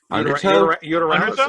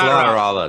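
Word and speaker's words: Lateralus: Uteralis or something or whatever. That's an L. That's Lateralis.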